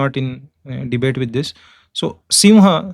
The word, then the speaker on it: सिंह: So simha, see why North Indians call Singha, I'll tell you. Singha बोलते हैं ना पंजाबी लोग वगैरह, सिंह लिखते हैं, सिंह. Why? Because according to another Vyakarankars, this should be pronounced as ng, जो हमारा इसमें आता है.